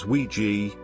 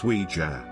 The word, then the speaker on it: Ouija: and German J both means yes most people pronounce it wrongly as wi G but the correct name is wij anyway do not use the OU J board